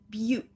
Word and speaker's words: beaut: then here we have beaut which is shortening of beautiful it's kind of a slang word oh that one's a beaut so that has a long u with a stop t b but notice when